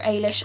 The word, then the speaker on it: Eilis: an Irish girl called it's pronounced either I'll ashore Ailish I was reading it Eilish but in the movie they say ailish and so that's obviously have the author probably wanted to be when I be pronounced and a girl called